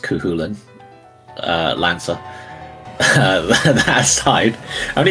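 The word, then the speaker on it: Cú Chulainn: His name is pronounced Kuhulan.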